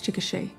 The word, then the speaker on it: Chickasha: helpful oh where was that help when i mispronounced chickasha oklahoma for an entire podcast it's a it's chickasha who would know this information better than a